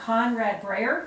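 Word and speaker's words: Konrad Breyer: They are Conrad Breyer, did I say it right, Conrad?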